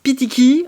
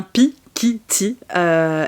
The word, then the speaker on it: Pikiti: des trucs comme ça, vous êtes tellement nombreux à ne pas réussir à le prononcer. C'est tellement mignon, il y en a tellement qui disent Pitiki, il y en a beaucoup qui disent Pitiki, c'est très très drôle, mais non, c'est bien Pikiti, et en fait, pour